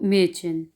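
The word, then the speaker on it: Mädchen: कहेंगे, आ उमलाउट, तो इसकी आवाज़ आएगी ए, ए। और इसको एग्जाम्पल में देखें तो मेचन, मेचन, मेचन यानी कि लड़की, गर्ल।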